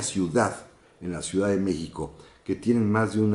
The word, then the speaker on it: México: de la x acuérdense Cómo se pronuncia México con x con j bueno el prójimo es